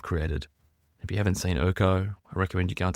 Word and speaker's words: IRCO: For example, like Urko, the incident response copilot that I've created. If you haven't seen Urko, I recommend you go and take a look.